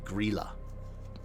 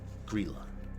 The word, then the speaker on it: Grýla: Where was Greyla from? Greyla is Icelandic, right? So I wrote her name down so I could read it. It's Grýla. I wrote it down phonetically. Grýla.